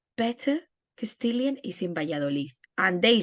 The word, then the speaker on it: Valladolid: And is the place that is the way they pronounce better Castilian is in Valladolid, and they say Valladolid.